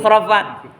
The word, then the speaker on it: khurafat: Karena tulisan ejaan lama ch curfat gitu. Khurafat.